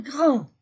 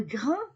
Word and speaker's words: grands: Nous sommes grands. Je ne prononce pas D, je ne prononce pas S. Nous sommes grands, vous êtes grands pour le pluriel, ils sont grands, elles sont grandes.